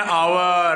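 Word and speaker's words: hour: अब साहिबा लिखेगी नेक्स्ट में एन आवर। अब देखो एस से स्टार्ट है वैसे, पर एस साइलेंट है, आज से बोल रहे हैं हम एन आवर, इसलिए एन भर रही है।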